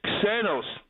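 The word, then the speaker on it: ξένος: Actually, it's not Zanos. It's Xenos.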